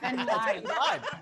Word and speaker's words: Ben Gleib: think your name is, I think you've been pronouncing your name wrong. It's Ben Gleib.